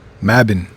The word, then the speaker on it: Mabon: Mabbin. That's how you say it.